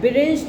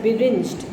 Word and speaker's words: beringed: Beringed means the music teacher is wearing a ring. Oh, sorry, we should not pronounce it as beringed. It is beringed. It is made from the word ring.